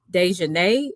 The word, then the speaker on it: Da'Naia: both of, I think her name is uh, Dejanay, or am I pronouncing it correctly?